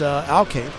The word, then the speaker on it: Alcade: Again, thanks for the helping out with the pronunciations. His parents stopped by earlier, so shout out to them for letting me know it's Alcade.